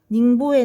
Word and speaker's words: 닝보: 자, 남해는 닝보의 난. 여러분 닝보는 발음이고 어디라고 했어요? 그 중국 영파라고 했습니다.